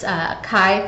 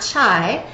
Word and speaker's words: chi: X is the Greek letter Chi and it's chi squared and it is pronounced Chi all right it's not Chi it's not chai um she is a hair straightener and chai is a lot a huge pet peeve of